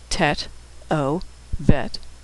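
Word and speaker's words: טוב: T O vet tove.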